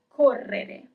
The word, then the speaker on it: correre: To run is correre, double R, correre.